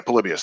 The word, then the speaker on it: Polybius: on that was Polybus or Polybus, whatever you pronounce that. Yeah, Polybius.